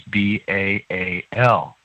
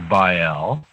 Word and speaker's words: Baal: the corporate name is b-a-a-l in your bible you can pronounce that as baal or by um but is that